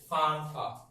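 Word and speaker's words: Pfund: এই হচ্ছে Lyman, বামার, প্যাসচেন, bracket, ফানফা। 5 নম্বর লিখিয়ে নি না। 5 নম্বরটা নিয়ে একটু যুদ্ধ আছে, কেউ বলে ফান সিরিজ, কেউ বলে ফুন সিরিজ।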